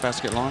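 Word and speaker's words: Basket Landes: Did I pronounce that right? Yep. Basket long?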